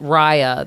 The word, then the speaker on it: Raya: Raya, it's Raya.